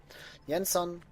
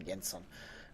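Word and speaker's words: Jenson: he he is French this is not a French name though yanson I'm just going to pronounce him yenson who was a trainee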